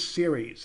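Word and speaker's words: Ceres: what is the biggest asteroid and that is series again cer yes that's how it's spelled and that is 580 miles across so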